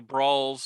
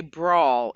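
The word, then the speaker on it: bransle: dance when we say brawl it's actually spelled b-r-a-n-s-l-e so it looks like branson but it's actually pronounced brawl okay go ahead were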